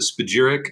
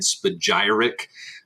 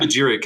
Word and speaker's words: Spagyric: Yeah, you can pronounce it Spagyric. Some people also like to make that Y a hard Y and Spagyric. But Yeah. Spagyric is typically more easy English pronunciation for most people.